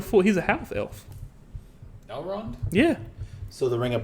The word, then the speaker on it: Elrond: Elrod is 7,000 years old almost. Elrod? Who's Elrod? Elrond. Elrond, I said it wrong.